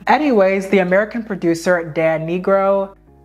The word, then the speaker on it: Nigro: Anyways, the American producer, Dan Nigro, it's spelled N-I-G-R-O, like Negro.